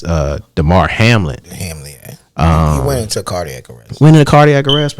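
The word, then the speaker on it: Damar Hamlin: oh I took it and I said his name wrong I said his name was Harmon it's uh Demar Hamlet he went into cardiac arrest winning the cardiac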